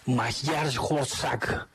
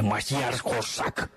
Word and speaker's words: Magyarország: Puskas, que sí, pues, nació en Magyarország. Muy bien, buena pronunciación. Hungría en húngaro, así se dice, Magyarország.